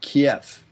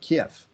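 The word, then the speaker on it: Kyiv: The target being Kiev. It used to be spelled K-E-I-V, but this week it's spelled K-Y-I-V. I don't know why, but it's still, I guess, pronounced the same way, Kiev.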